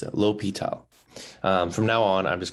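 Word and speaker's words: L'Hôpital: a note on how you pronounce it it's pronounced low p towels not the hospital um which a lot of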